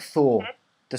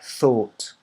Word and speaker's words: thought: In fact, it's like Thor, the superhero, Thor. Yeah. So Thor, and it's, in fact, I would pronounce it. Oh, it always changes it. So it's like that. THORT. Yeah. Thought.